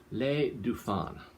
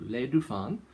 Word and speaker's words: Les Dauphins: with an f and you don't pronounce the s at the end so le du fan grenache sera rose from